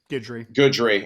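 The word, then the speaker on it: Guidry: Coach Lance Goodry, is that how you pronounce it, Ben? Goodry.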